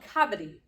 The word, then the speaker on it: kabaddi: And so they said it's called kabaddi, and it's gotten really big in India right now.